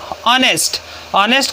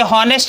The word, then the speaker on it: honest: दूसरा देखिए, जब कोई शब्द एस से शुरू हो और उसकी ध्वनि ह से ना हो, जैसे ऑनेस्ट को लिखेंगे HONEST, ऑनेस्ट, उसे हॉनेस्ट नहीं पढ़ते, ऑनेस्ट पढ़ते हैं।